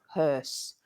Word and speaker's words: hearse: is called the hearse hearse which is also a bit of a tricky spelling and pronunciation think of her like his and her and then you just put an S at the end HSE HSE H MH